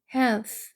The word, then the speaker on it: health: 것 중에서 4번 이렇게 되겠네요 건강한 형 있으니까 health 오겠죠는 번데기 발음이에요 그래서 아니 아래음 아니하고 윗니 사이에 혈을 내밀고 아리니 윗니 사이에 혈을 내밀고 바람 나가는 소리 해서 health 이렇게 되는 거죠 heth 쓰고요 그다음 이다라고 쓰니까